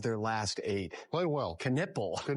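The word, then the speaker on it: Knueppel: Knippel.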